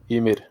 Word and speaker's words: Ymir: Ymir.